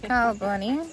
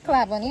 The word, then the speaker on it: Claboney: But you don't pronounce, but NY in French is not like pronounced like that way. NY in French is not like that, so. NEY? Oh, Oh, so y'all thought it was NY? No, yes. it's NEY.